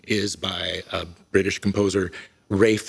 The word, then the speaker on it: Ralph: by a british composer rafe von williams spelled like ralph uh this is full